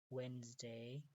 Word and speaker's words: Wednesday: So listen to the pronunciation very carefully و تلفظش گوش بگیریم. Okay. Saturday, Sunday, Monday, Tuesday, Wednesday, D silent, Thursday, Friday, Saturday شنبه، Sunday یکشنبه،